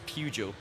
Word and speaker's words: Peugeot: And it's not And it doesn't have an R in it. So, it's like Peugeot. But whenever I say it like that, I sound like I'm mocking someone who's English. It's Pujo. No, but I think Scottish people in general, it is just Pujo.